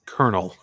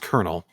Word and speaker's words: colonel: so yeah that's pronounced kernel right so you're saying an R sound even though there are no R yes uh I could